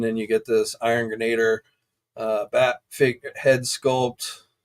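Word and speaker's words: Grenadier: I'm going to call it Grenader. They pronounced it differently in the live stream, but I've always pronounced it Grenader. So I'm going to stick with that.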